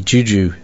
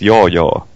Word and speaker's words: Juju: Yeah, actually, that's one of the things I thought about when I saw the Juju video demo this morning. Oh, you pronounce it wrongly. It's yo-yo.